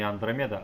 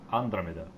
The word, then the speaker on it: Андромеда: И она говорит не Андромеда, а Андромеда. Андромеда. Как-то ударение. Не Андромеда совсем.